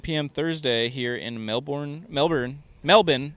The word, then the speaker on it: Melbourne: Thursday here in Melbourne Melbourne melbour it's pronounced melbour right Melbourne Australia there's an r in there somewhere I don't think it's pronounced though I think it's Melbourne